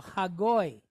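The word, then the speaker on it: הַגּוֹי: So we would pronounce that as g, oi, goy, goy. So hagoy, hagoy, G-O-I.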